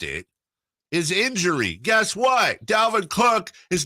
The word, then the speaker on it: Dalvin: Florida State guy I have to say it's Dalvin okay everyone's pronouncing adult it's Delvin okay okay well he should pronounce the way